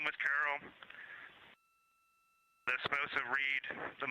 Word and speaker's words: Carroll: And we would like to call it Carol, and you spell that C-A-R-R-O-L-L.